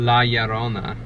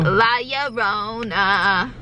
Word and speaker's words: La Llorona: It's, well, two L's, like two L's are pronounced with the Y.